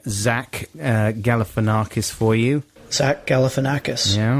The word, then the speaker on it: Galifianakis: guess exactly all right i get the message it's zach galifianakis i'll never forget the thing is that it's spelt galifianakis and i think it's because i learned how to spell it i just felt so